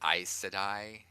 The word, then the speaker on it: Aes Sedai: what that is people he unlike, was it Aes Sedai? Yes. Is that how you pronounce it?